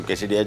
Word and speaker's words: quesadilla: और उसमें एक डिश आती है कैसेडिया। कैसेडिला भी लिखा जाता है इसको, लेकिन प्रोनाउंस को कैसेडिया किया जाता है।